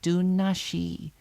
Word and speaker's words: Dunasi: Her home was attached to the round house, the great circular building at the heart of their village of Dunasi, pronounced Dunashi, which meant the fort of the fairies.